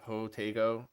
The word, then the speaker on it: Jotego: other day is it wait it's yotego right so you know how to pronounce um when i asked him about it you know his name's jose and he had that as an extension of his name so jose tejada ho tego so that's hoteigo because